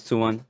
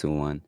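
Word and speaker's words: Tuan: My name is Tsuwan. It's pronounced T-U-A-N or spelled T-U-A-N. So it's Tsuwan.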